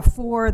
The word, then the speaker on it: Foor: My name is Foor. That's. The last name is Foor, like the number, but it's spelled Foor.